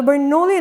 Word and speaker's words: Bernoulli: Now, the Bernoulli numbers are very hard to pronounce. I don't know if I'm saying it right, kind of sounds like ravioli.